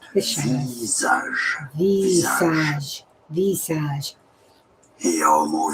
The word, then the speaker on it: visage: Visage is the French pronunciation. Visage.